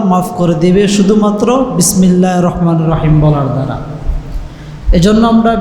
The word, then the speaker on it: রাহমানির: বলো দেখি দেখবেন পারবে না কি বলবে বিসমিল্লাহির রহমানির রাহিম শেষ এটা কি হয় হয় না তো বিসমিল্লাহির রহমানির রাহিম এটা তো উচ্চারণ না বিসমিল্লাহির রাহমানির রাহিম রহমান মানে দয়ালু